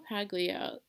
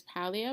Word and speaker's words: Paglia: I always hear her name pronounced as Paglia, but it's Paglia.